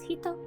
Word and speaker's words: 人: word means one person the first kanji is pronounced as hito and the second as